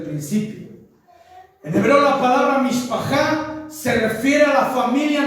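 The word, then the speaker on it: משפחה: que la familia significa en hebreo se pronuncia mishpaja en la Biblia la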